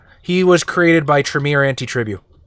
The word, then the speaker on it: Antitribu: He was created by Tremere Antitribu. I believe it's pronounced anti-tribu. I've only heard one person say that, and I'm not going to say he's wrong because it's a made-up word.